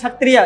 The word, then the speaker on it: क्षत्रिय: हो have non एस छतरियां क्षत्रिय में याद रखिएगा के साइलेंट होता है आपको लिखना भी जब पड़ेगा तो छतरियां हमें किए जरूर likhiyega क्योंकि ये साइलेंट है तो छतरियां जो द